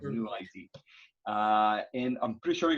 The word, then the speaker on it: NuID: What is the perfect way to pronounce the name of your startup? NuID is NuID. Yep. Okay. Yeah, it's a beautiful, simple name. I love the font of it as well. It's like NuID.